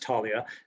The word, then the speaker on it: Taulia: this tell us where tullia or however you pronounce it where did that fit in in your technology journey certainly it's pronounced talia and and uh um